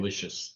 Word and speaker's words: Aloysius: Aloysius. Aloysius?